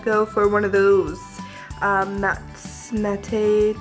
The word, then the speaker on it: mate: Mate teas again. Yeah, that's how you say it.